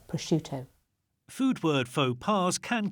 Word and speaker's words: prosciutto: But the I that comes after the C softens the SC to be a sh sound, not a sk sound. So it's prosciutto.